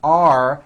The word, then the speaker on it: are: The first word are has a strong R sound at the end.